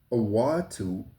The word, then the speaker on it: Awhitu: The word Awatu, and it's spelled Awhitu, means a longing to return.